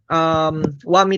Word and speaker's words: Xiaomi: So, eto rin, example, yung Xiaomi na lang, yung Xiaomi na phone, Wami talagang pronunciation nun.